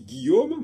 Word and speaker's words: Guillaume: la même façon Guillaume on dit Guillaume mais on prononce pas le U et les Anglais vont